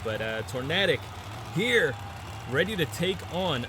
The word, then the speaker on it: Tornadic: Taking on Steven Mason in tornatic. Man, I mispronounced it in the intro again. It's just the natural way of saying uh Tornadic out in this region where I am. But uh Tornadic here ready to take